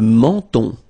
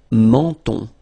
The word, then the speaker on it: menton: Le menton, okay, same thing here, so you get two nasal, the first one here, en, and then the second one here, on, le menton.